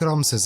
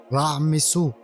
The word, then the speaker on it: Ramses: Take Ramses as example. It wasn't originally pronounced like that. It was pronounced raisu born of ra the